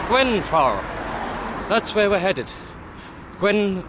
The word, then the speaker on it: Grwyne Fawr: And I think I've learned how to say the place name properly. Grwyne Fawr. Grwyne Fawr. That's it, Grwyne Fawr.